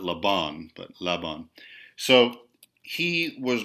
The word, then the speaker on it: Laban: So now we have and Rudolf von Laban, and so the accent, this Hungarian person's the accent on his last name is on the first syllable, Laban, not Laban, but Laban.